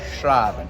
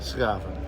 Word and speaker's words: Schraven: I'm with my friend Ron Schraven, and I learned that is not how it's pronounced. When I call your phone, how do you say it? What is it really? Schraven. Schraven.